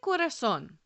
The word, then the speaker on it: corazón: Look at corazón. It ends in an N. So in theory, the stress should be on the second to last syllable. But is it? Listen closely. Corazón. No, that stress is on the last O, and therefore we mark that O with an accent mark.